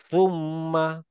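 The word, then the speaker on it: ثم: সুম্মা আমরা অনেক শুনছি এটা না সুম্মা আসলে সুম্মা না এটা হবে হচ্ছে সুম্মা অনেকটা বাংলা থ এর মত বাকিরা আমার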